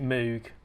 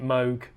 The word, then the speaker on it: Moog: you next time and yes I do prounce it Moog I refuse to pronounce it Moog